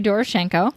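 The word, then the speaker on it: Doroshenko: saying their names dorenko D yes it's Yori dorenko I know it is he was 21 there's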